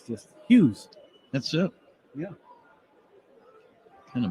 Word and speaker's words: Hughes: Hughes, 6 letters, 1 syllable.